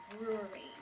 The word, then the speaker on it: brewery: How to pronounce the word brewery. So let's break it down. All right, so the word brewery. Ooh, that's a tricky one. Brewery. That's 3 syllables in there.